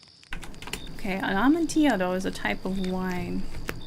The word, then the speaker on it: amontillado: this correctly okay an amantiado is a type of wine is it Spanish or Italian it is Spanish so I'm right so it's probably a y sound I'm gonna check just